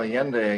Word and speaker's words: Allende: So let's move on to Allende. Is that the pronunciation? Mm-hmm. Yeah. Well, Allende again, president of Chile, and Allende went up against a very powerful U.S.